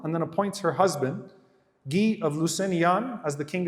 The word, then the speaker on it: Guy: then appoints her husband G of Lucan as the king of Jerusalem if you read in the English literature by the way it's spelled as guy his name is not guy G of linon is